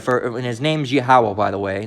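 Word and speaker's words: Yahweh: it's going off man don't shorten the name of the Lord all right just say it's yahwah all right it's two more syllables that's it all right yeah all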